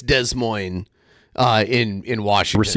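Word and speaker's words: Des Moines: an audit after De Moines. Oh, it's it it's not pronounced de it's Desmo uh in in Washington.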